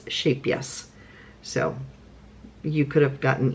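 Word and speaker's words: Scheepjes: you got some shap yes which looks like sheep G but it's actually pronounced shape yes um it's a Dutch yarn and yoka who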